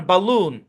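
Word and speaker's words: balloon: এ স্বয় sound না এই শব্দের উচ্চারণ বালুন এখানে এ সো সাউন্ড দিবে তো আপনার সামনে যখন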